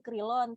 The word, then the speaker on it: Crillon: Kalau tulisannya The Crillon, tapi katanya bacanya The Crillon.